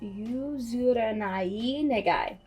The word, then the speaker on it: Yuzurenai Negai: My bad, it's actually pronounced Yuzurenai Negai.